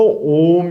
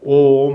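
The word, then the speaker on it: ओम्: 옴 하면은 이 입천장 높은 부분에 좀 이렇게 울리는 듯한 느낌을 가지게 되실 겁니다.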